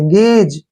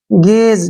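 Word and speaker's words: gaze: का उच्चारण ज होगा यहां पर ई का उच्चारण हम नहीं करेंगे गेज क्या पढ़ेंगे इसको गेज गेज क्या होता है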